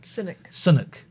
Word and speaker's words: Sunak: He doesn't say Sunak. Sunak. Like rhymes with the tea cakes.